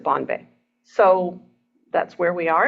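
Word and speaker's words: Bonne Bay: n NE e and even though it looks like it should be pronounced bun Bay um it they pronounce it Bon Bay so that's where we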